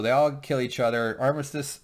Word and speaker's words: Armistice: all kill each other Armistice or as James pronounces it armati what which is short